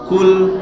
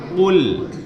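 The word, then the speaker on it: قُلْ: dibaca tipis Jangan dibaca cool Hai kalau pukul artinya beda ya ustadz ya kalau Pulau itu artinya Makanlah masa Makanlah dialog Allah yang Maha Esa eh merubah arti Tapi bacanya full bukan cool kalau full katakan Katakanlah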